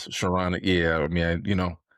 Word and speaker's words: Charania: I You just really butchered can't the pronounce his man's name. name. Skarnakia, Sharana.